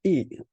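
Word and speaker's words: 乙: This is E. Why is pronounced as E.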